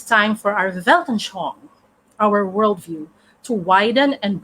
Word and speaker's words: Weltanschauung: I don't know if I can still pronounce it, but I think it's pronounced as Weltanschauung. Weltanschauung.